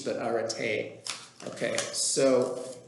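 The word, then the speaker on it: ἀρετή: over the last d to indicate it's not pronounced erit but are ate okay so arate is sometimes translated as excellence all right excellence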